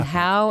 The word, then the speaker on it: Howe: It's just, like in Wonderland, and Howe, H-O-W-E. The E is silent.